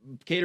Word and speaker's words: Kattar: Calvin Cater. Yep. Yeah. How come white boys got the Qatar name, but it's pronounced Cater?